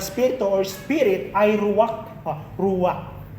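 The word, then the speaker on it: ruach: Ruak. Hindi ko alam kung silent K to pero nung binanggit nung kakilala ko ay ruak na nangahulugang hininga, breath of God, hangin at espirito.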